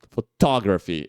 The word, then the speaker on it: photography: é a sílaba tônica mas quando a gente fala photography que é fotografia a sílaba tônica muda e vai pra segunda sílaba E aí é o photography E aí não dá